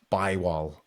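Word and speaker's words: Bergvall: I think it's Bywal. I think is the pronunciation. Bergman, is it? As we call it. Bywal, I think is... Yeah, as I've seen some Swedes say.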